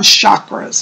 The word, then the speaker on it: chakras: So anyways, get a book on chakras, okay? Let me know. It's spelled C-H-A-K-R-A-S. Some people pronounce it as chakra, and some people say chakra. Either way, okay?